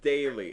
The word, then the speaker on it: Daily: No, you were disrespectful in the way you pronounce his name. It's Daily, and I love Daily.